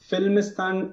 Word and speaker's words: Filmistan: out your reviews yeah uh it is uh filmistan reviews which is spelled as f i l m i s